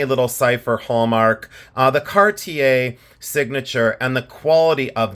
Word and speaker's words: Cartier: because I say in Ohio we say C cardier cardier no it's CTI cart ta and say in